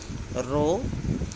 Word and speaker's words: rho: The final symbol is pronounced as rho, which is most commonly used in correlation coefficient.